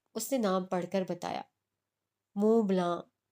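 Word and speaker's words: Montblanc: मोंट ब्लांक, उसने नाम पढ़कर बताया। मुंह ब्लां। वो कब में गंभीर सी आवाज में कुछ सख्ती से तस्वीर की गई। टी और सी साइलेंट है।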